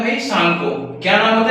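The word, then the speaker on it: Tsangpo: वहां पे इसका नाम होता है भाई सांगको। क्या नाम होता है? सांगो। टी यहां पे साइलेंट होता है। हम इसे सांगो पढ़ते हैं।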